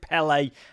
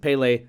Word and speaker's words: Pelé: And I knew who Pelé was. I would have pronounced it Pele at the time, but I didn't know much of anything.